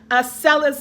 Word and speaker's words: Acellus: Acellus Academy.